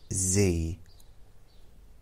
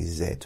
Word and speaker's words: Z: to say and then I heard someone said Z instead of Zed see in England we say Zed we don't say z z is this this